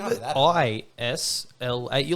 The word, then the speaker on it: Ysla: Yeah, her name is Isla Rose, Isla Rose, nice. but it's spelt YSLA.